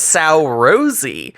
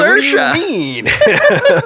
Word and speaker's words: Saoirse: It says Sow Rosie. Why is it pronounced like, Saoirse?